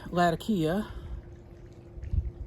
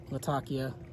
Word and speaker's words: Latakia: subscribers mother was from Latakia Latakia and said that sheep and the natives there and again I'm not from there so I'm going to mess this up but they pronounce it with a th they actually say lafakia